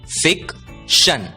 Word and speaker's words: fiction: ध्यान दीजिए, TION की आवाज होती है शन और इसलिए FICTION का उच्चारण होगा फिक्शन, फिक्शन।